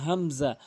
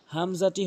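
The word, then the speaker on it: همزة: এরপর আসুন হামজা, হামজাটি হলকের শুরু থেকে উচ্চারণ করতে হবে। এটি হামজা, হামজা জবর আ বলতে পারবেন না, চাপ দিয়ে বলা যাবে না, আ বলতে হবে, আ।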